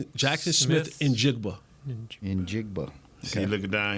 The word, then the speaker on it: Njigba: Pronounce his last name. Jackson Smith Njigba.